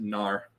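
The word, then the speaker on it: Mnar: in the land of gnar again pronunciations vary this is spelled m-n-a-r i'm gonna pronounce it nar okay a vast still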